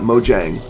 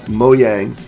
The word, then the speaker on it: Mojang: it's not Jeb it's moyang and it's yep it's like it's like saying it with it's like m o y a n g or y e that's how they pronounce it in Sweden so so for those